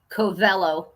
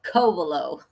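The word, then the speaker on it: Covelo: Say big co and the rest are little. Kovaleo. Okay. Like like a sea cove.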